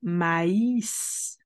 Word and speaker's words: maïs: Mais par exemple, lorsque nous avons un accent, tel que le tréma, on va prononcer de cette manière. Maïs, maïs, corn.